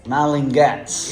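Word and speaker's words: Malin+Goetz: So the Oh, owners how do you say it? I really don't know how Malin and to Guts. Malingats. Yeah. The O is silent.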